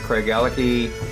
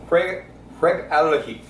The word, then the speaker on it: Craigellachie: We're gonna look for Craigellachie Distillery, which is in the community of Craigellachie, which hugs the Spey River.